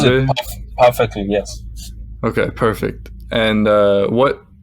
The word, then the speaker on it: Wodaabe: The I'm sorry if I mispronounced, but the No, it's Tuareg and you pronounce it Wodaabe.